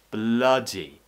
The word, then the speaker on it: bloody: the key is moving the sound more towards the middle back section of the mouth so pulling the tongue back slightly so the middle of the tongue slightly pulls towards um the lower section of the mouth but we're keeping it in that middle lower section towards the back again near the middle and the back uh try not to smile just open your mouth vertically bloody bloody another